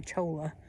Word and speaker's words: cholla: That's the, I'm not sure if you pronounce it cola or cholla. Cholla.